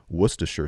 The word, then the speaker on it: Worcestershire: It's Mississippi pot roast, beef chuck roast, packet of gravy mix, ranch seasoning, Worcestershire sauce, that's how you pronounce that, by the way, and 3 cups of banana peppers.